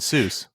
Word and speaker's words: Seuss: were saying it wrong he anglicized that name cuz he liked the sound he sound thought it sounded like Mother Goose ah so he he